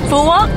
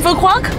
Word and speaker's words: Phu Quoc: Island oh my God how you say it f walk fuw walk yeah it's not for qu no we made